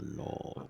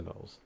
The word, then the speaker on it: Gnoll: Savage Lord of the Knoll. I'm sorry, the Savage Demon Lord of the Gnolls. And Knolls is a Knoll. No, it's Gnoll.